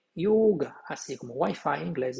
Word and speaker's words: yoga: No sânscrito, a pronúncia sempre é yoga, porque o O em sânscrito é fechado. Não tem O aberto e O fechado em sânscrito. É sempre fechado.